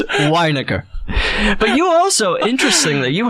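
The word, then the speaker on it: Winegar: Weiniger. Weiniger. It looks like vinegar. Yes. Which I understand. People would want to say vinegar.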